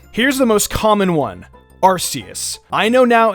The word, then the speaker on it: Arceus: gonna say Fionna here's the most common one Arceus I know now it's pronounced Arceus I know over the years I have seen so many pissed-off people in my comment section saying it's pronounced Arceus I learned this one the hard way trust